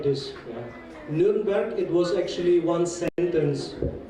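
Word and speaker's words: Nürnberg: this one E A then you can pronounce the name of my city nberg the story of the name of the city goes like this yeah nberg it was actually one sentence yeah the king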